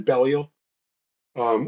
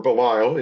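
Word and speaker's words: Belial: man called Ultra Man Bell um or Balile if you're going to pronounce it the way we pronounce it here, who was a regular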